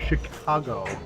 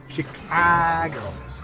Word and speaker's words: Chicago: it sorry yeah so they're pronouncing it Chicago and it's like no no no Chicago so that all these